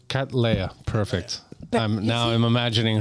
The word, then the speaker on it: Cattleya: You can think about a cat. Yeah. And Princess Leia. Cat Leia. Cat Leia.